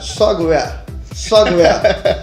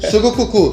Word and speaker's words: surucucu: Só que esse inglês ele não sabia pronunciar a palavra surucucu. Então ele começou a pronunciar de forma errada, sogware, surucucu, sogware. Ele não sabia falar surucucu, sogware.